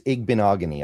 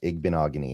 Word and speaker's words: Igbinoghene: Yeah, it's Igbinoghene. I always just remember it rhymes with mahogany and then it kind of just flows. Igbinoghene.